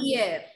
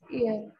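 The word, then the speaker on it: hier: Ear. We don't pronounce okay. H here. Ear. Ear.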